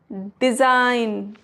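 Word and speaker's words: design: आई के बाद अगर जी है तो वहां पर भी जी नहीं पढ़ा जाएगा। जैसे साइन डिजाइन फॉरेन clear next rule है एच इज़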